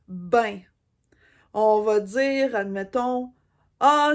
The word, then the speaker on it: bien: une autre expression c'est le mot bien mais que nous on prononce ben on va dire admettons